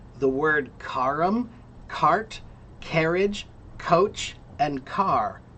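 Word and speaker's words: carrum: Cart comes from the Roman word kum. Kum.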